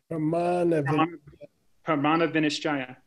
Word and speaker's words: Pramana Vinischaya: Pramana Vinischaya. I'm losing you. Pramana Vinischaya.